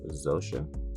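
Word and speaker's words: Xhosa: language in South Africa I believe it's pronounced zosa z h o s a hope I pronounced that right but yeah that helped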